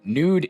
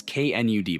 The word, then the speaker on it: Knud: Nude is it's knud by the way.